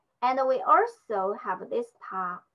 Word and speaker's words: 他: And we also have this ta. They all have the same pronunciation, ta.